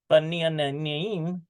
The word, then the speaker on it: בניינים: Efshar lirhod, it's possible to see binyanim. Well, look at that. Me'anianim. Efshar lirhod binyanim.